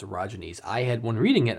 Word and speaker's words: orogene: orogenes uh at least I was told it's pronounced orines I had one reading it I had been calling it Origins like origin but apparently it's ayy uh it's